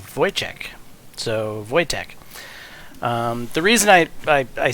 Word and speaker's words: Wojtek: So, where I explained that the J is basically a Y in English, for whatever reason I forgot that a W is basically a V. So technically it's not Wotek, it's Wojciech. So Wojtek.